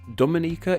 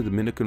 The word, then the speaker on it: Dominica: With Dominicans from the Dominican Republic, the me syllable is stressed, while Dominicans from Dominica, the ni syllable is stressed, Dominica and Dominica respectively.